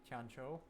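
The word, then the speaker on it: Tianqiu: Tang tangu Valley Tano I guess that's technically pronounced T Tano Valley but he really but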